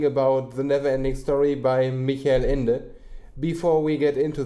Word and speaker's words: Michael: Before we get into that, I say Michael because he's a German author. You weird British and American people, and also Australian and other people, would say Michael. But it's spelled Michael. He said it as Michael, so I'm gonna say Michael.